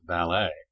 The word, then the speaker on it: ballet: mind seen melom mankind Billet does not rhyme with ballet bouquet wallet Mallet Chalet